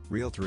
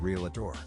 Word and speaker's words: realtor: got me Whispering words realtor it's real T not real Ator s not supposedly Library